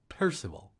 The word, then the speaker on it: Percival: Most people say it Percival. I prefer the German pronunciation, Sir Parsifal.